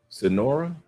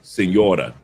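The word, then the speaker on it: Señora: Sonora? I think I pronounced that Sonora correctly. He said I was late. He said I want like wait Sonora. I was like wait Sonora. Oh, okay, Senora.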